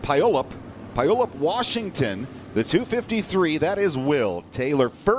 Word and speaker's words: Puyallup: And from, I believe it's pronounced Puyallup, Washington, the 253, that is Will Taylor.